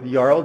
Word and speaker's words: Jarl: So as Christine mentioned, my name is Jarl. It's like Carl, but with a J, pronounced as a Y.